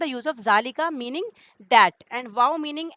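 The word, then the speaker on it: ذلك: Simple note, ज़ालिका is pronounced ज़ालिका बट इट is written without Alif.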